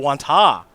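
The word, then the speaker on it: Wantagh: from is that wontog i think that's wonton quanta or wanta the g silent probably all right that makes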